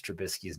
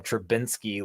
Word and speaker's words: Trubisky: for i'm like dude it's like biscuit dude like trump biscuit he's like he's a biscuit i'm like no man that's just how you like pronounce his name it's like a biscuit like trubisky biscuit oh okay okay okay